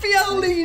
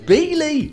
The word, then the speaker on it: Beoley: No, it's not Violi. It's How- pronounced Beely.